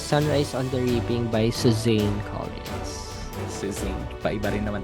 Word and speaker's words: Suzanne: Suzan daw kasi talaga. Ah talaga ba? Hindi pa Susan ha. Alam ko Suzan. Alam ko Suzane. Ah Suzane. So we've been saying it wrong pala.